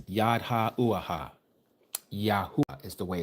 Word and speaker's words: Yahweh: Yahwa is the way it's pronounced. Yahweh.